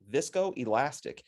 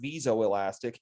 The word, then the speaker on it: viscoelastic: Vis, Viscoelastic. That is spelled wrong. I apologize for that. They are not visoelastic. They are viscoelastic.